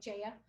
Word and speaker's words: Jaya: Jaya, sorry, Jaya. She's very good. She remind me, it rhymes with Slayer, and she is a Slayer.